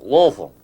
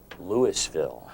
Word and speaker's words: Louisville: you were born in louisville kentucky well kentucky's or louisville if you live there louisville yes if you live there it's one syllable louisville oh this is good